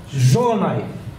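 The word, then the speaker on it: Zsolnai: So the sh is the difficult part.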